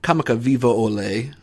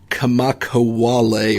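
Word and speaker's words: Kamakawiwoʻole: I'm going to try to pronounce this name correctly. Kamakawiwo'ole, I believe, is the correct pronunciation of it.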